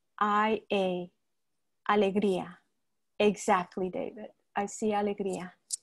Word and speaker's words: Alegria: works um are written under that name so it's spelled a l e g r i a alegria exactly david i see alegria yes you're welcome